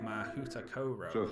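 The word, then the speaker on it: Mahoutokoro: For instance, the Japanese school is called Mahuta Koro. Now that might not sound right to you, but that is the pronunciation guide given on the website.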